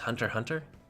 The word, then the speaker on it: Hunter x Hunter: The X is silent, so it's just Hunter Hunter?